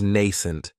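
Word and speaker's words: nascent: Another great adjective is nent, and this word has two syllables. And the stress is on that first syllable. It has the long a sound nent. That second syllable has that schwa.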